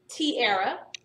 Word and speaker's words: Tierra: But it could be kind of like, so, the first name, Tierra, has the air sound, but it's spelled sometimes like this.